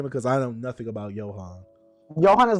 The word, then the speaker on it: Johan: Gohan, like Gohan and Piccolo. Is that how you say his name in Monster? I forget. Gohan? No, I never. Johan, yeah, it's Johan.